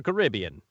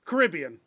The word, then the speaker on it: Caribbean: you always said carrot caribbean is how the ride in the movie are pronounced in marketing but the actual Caribbean is more often and said Caribbean the places said Caribbean the ride and a track I mean both are correct as far as the